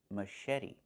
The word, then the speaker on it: machete: Machete. The ch makes a soft sh sound like in fish. Mh. And then eddie. The t makes a fast d.